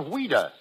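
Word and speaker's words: Ouida: French but English but why did she use the pen name of weda because as a child that was the way she pronounced Louise she was a strange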